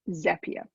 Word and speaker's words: Zapier: So first things first, it's Zapier. And there is a way to pronounce it that is actually detailed on the Zapier website.